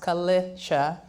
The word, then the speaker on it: Kalisha: And as you all know, I mean, I won't test anyone in here, but my name is Kalisha. It's pronounced Kalisha.